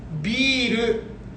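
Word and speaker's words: ビール: B, and then not R, but instead you finish with ru.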